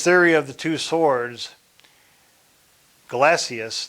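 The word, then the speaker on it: Gelasius: of the two swords galacious that's how you say it glasses um articulated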